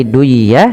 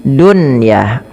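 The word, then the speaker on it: دنيا: Maka bukan lagi duyah tapi bacanya dunyah.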